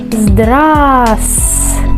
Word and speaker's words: Здравствуйте: Pero no se produce, no se pronuncia esta letra aquí en esta palabra, porque hay muchas consonantes y entendemos que será muy difícil hacerlo, ¿sí? No es algo natural. Por eso, cuando hablamos rápidamente, casi no suena este sonido, ¿sí? Zdras. Vemos que después de A, en el lugar de V, pronunciamos S. Zdras.